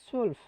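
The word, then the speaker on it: zwölf: এলফ সোয়েলফ ড্রাইজেন ফিয়াসেন সোয়েলফ না সুলফ সুলফ সুলফ সুলফ ড্রাইসেন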